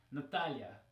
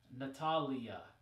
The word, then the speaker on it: Natalia: another one that people always complain when people mispronounce it is Natalia Natalia right because in English it would be Natalia with an e now to make matters even